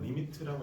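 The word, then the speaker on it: lim: li 이렇게 해서 그렇죠. 읽는 방법 리미트라고 읽어 줍니다.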